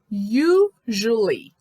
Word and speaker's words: usually: Usually, esse SU fica com som de JU e o A gente não pronuncia. Então, é usually.